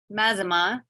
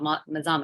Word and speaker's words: Mazama: from well it's not mazima it's not what else we hear like I'm trying to think people Mazama mazamas there's no s on the end so it is pronounced Mazama you're correct um so